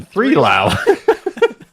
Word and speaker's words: 3LAU: i learned so much i'm glad that you pronounced it because i didn't know that that was blau i was like hey guys musician 3 lao i'm sure learn something